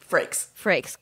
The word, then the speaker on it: Frakes: Frakes.